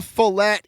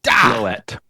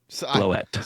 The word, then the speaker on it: Floette: set is the Mega Follette EX. Close. Floette. Floette.